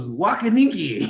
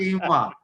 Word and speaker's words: quinoa: It was wakaniki. It was everything except quinoa.